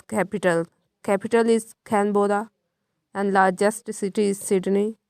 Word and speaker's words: Canberra: Its pronunciation is Canberra.